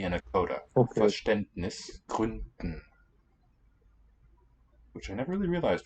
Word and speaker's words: Gründen: The D there in Gründen and also I think in Verständnis should be a voiceless one. Because it's underlyingly in a coda. Okay. Verständnis, Gründen.